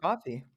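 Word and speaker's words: Ko-fi: Console Creatures, set up, is it coffee or kofi? I don't remember. I don't really know how to say it out loud. Um, where people can It's coffee. Is it just coffee? I don't know. It's It's spelled K O Fi.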